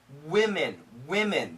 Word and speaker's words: women: For women, women. Yeah, this is a W-I. It sounds like an I. Like winning, women.